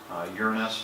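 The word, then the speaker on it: Uranus: hardly very clearly see it Saturn definitely does your kness does and yeah that's the correct pronunciation of it yeah Neptune does have a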